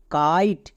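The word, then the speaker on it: kite: টি, টি এর জন্য টো, মানে কাইট। শেষে ই সাইলেন্ট।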